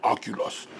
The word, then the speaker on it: Oculus: And the Oculus, you have to say it like that, Oculus.